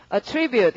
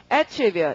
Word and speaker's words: attribute: 동사로 읽으시면 발음이 어떻고? attribute 이럴 테고 명사를 하면 강세가 앞이어서 발음이 attribute 이렇게 되고 뜻이 굉장히 다르다는 거 아셔야겠고요.